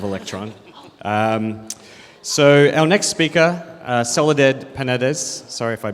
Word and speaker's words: Soledad: So Spanish names have this thing where most of the words have the stress on the last syllable. So it was like coaching Mark with like ta ta ta ta ta ta. That's how you say my name, and it actually worked.